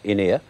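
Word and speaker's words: Ynyr: So, with the aid of Freddie Jones, as a wise man named In-Ear, pronounced as in, not in there, In-Ear, and a band of frightfully nice escaped criminals,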